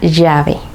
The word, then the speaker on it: llave: Cuando la L está duplicada en español, el sonido no es como en otras lenguas donde la L duplicada es como una L más larga. En español suena Y. Por ejemplo, en la palabra lluvia tenemos la L duplicada, o en la palabra llave.